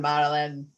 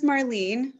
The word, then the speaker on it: Marleen: Yeah, come on, Marlyn. So my name is Marleen. Oh, it's Marleen. Why do I call you Marlyn? Because the way it's spelled, I call her Candace Marie.